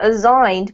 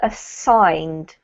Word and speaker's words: assigned: good and this one is not aign but assigned assigned much better well done okay so